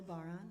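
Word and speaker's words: bodhrán: out of goat skin it's called a baron it's spelled b-o-d-h-r-a-n and what you can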